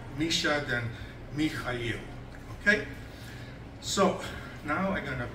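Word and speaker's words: Михаил: See, Americans cannot pronounce H. They cannot say H. They go K. So I try teaching American, look, my name Mikhail, say ha. He goes ka.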